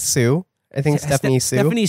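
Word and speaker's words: Hsu: at Once, and Stephanie, how do you pronounce her last name, Hessa? I think it's Sue.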